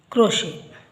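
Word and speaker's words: crochet: ಟಿ ಬಂದಾಗ ಇವುಗಳನ್ನ ಉಚ್ಚರಿಸುದಿಲ್ಲ ಇಲ್ಲಿ ಮೂರು ಕಡೆ ಇದೆ ನೋಡಿ ಇದು ಬ್ಯಾಲೆ ಬ್ಯಾಲೆಟ್ ಅಲ್ಲ ballet debut ಕ್ರೋಶೆ ballet debut ಕ್ರೋಶೆ ಇಲ್ಲಿ ಕೊನೆಯಲ್ಲಿ ಇದೆ ಸೈಲೆಂಟ್ ಆಗುತ್ತೆ ಟಿಸಿಎಚ್ ಪದಗಳಲ್ಲಿ ಒಂದು ಪದ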